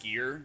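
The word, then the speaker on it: skyr: It's pronounced skier, also called quark in English.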